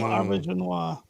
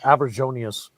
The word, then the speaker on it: Auberjonois: Yes, Renee Auberjonois. I used to pronounce his name Aberjonius.